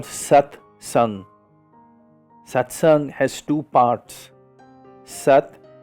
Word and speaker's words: satsang: a Sanskrit word for it it's called SATs satsang has two parts sat pronounced sat and S pronounced just like the